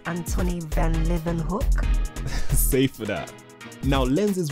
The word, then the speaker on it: Antonie van Leeuwenhoek: Now, lenses were already on the scene before Antonie van Leeuwenhoek? Uncle, I think it's pronounced Antonie van Leeuwenhoek.